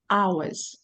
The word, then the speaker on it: hours: we pronounce this word we have Silent Age we don't say age we say two hours okay and here we